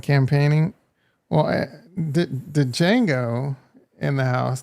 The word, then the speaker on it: Django: Well, the Django in the house. The D is silent, bro.